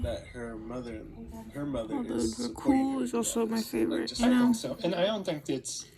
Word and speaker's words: Dracule: Dracule.